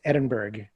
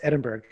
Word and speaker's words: Edinburgh: He told a Scottish girl, Tracy Black, that Edinburgh should be pronounced Edinburgh because that's the way it was spelled. It's like, no, it should be pronounced Edinburgh.